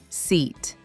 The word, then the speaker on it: seat: Sheet, seat. Sheet starts with sh, like shoe or she. Seat starts with s, like sun or sorry.